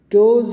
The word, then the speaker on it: does: Does rhymes with buzz.